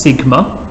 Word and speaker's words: sigma: Now this symbol here we pronounce as sigma.